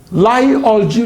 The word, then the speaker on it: Lie: The differential equation plays a central role in subdisciplines of mathematics, such as complex analysis, Lie algebra theory [pronounced /liː/ "Lee"], and probability theory.